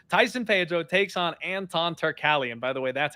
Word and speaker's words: Turkalj: Tyson Pedro takes on Anton Turkalj, and by the way, that's how you pronounce it. Last time I broke it down, I was saying like Turkalj. Anton Turkalj, the Pleasure Man himself.